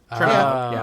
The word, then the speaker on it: Chernabog: Chernabog.